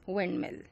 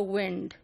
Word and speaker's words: wind: a long ball and as late as Shakespeare's time it rhymed with kind you know now we pronounce it as went it used to be pronounced in Shakespearean times till Shakespearean times as wind so you know like we pronounce kind so when the famous